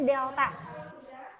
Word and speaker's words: delta: Dibacanya delta.